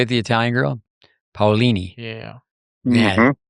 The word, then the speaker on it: Paolini: Paolini.